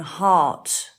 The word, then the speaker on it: heart: good one Gabby's car the sound of r as in Far large after that then in the unusual spelling box there's aunt and laugh and heart that is very confusing